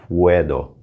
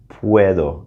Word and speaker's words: puedo: little tricky to pronounce remember in spanish we're gonna be pronouncing all of the vowels and we have that u there so it's puedo puedo so you're saying puedo it's almost like a pw e sound puedo puedo as